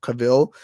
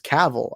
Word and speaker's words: Cavill: i pronouncing that right i remember i used to pronounce cavill and so i was corrected like on a stream that it was caval i believe and now i'm now used to saying caval which is weird because